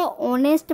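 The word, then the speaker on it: honest: अब दूसरा एक्सांपल देखिए और नेट यहां पर एक साइलेंट है एच ओ एन ई एस टी में क्या है ए साइलेंट है हम इसको ऑनेस्ट पढेंगे ऑनेस्ट तो यहां पर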